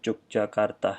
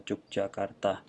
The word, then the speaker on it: Yogyakarta: people here usually pronounce it as Yogyakarta. You can say it as well, Yogyakarta.